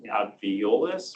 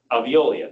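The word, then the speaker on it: Veolia: in the um in the I'm going to butcher the name. The Boise water system. Aviololis or something. Aviolia.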